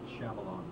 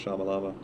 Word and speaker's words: Shyamalan: Night Shyamalan. Yeah, M. Night Shyamalan. I always want to say Shyamalama because to look at the way his name is spelled, it's ridiculous.